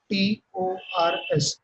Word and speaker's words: debtors: डेटर्स, spelling देखो ध्यान से, DEBTORS, B is silent, so debtors, a person who has to pay to the business for getting goods and services on credit is known as debtor।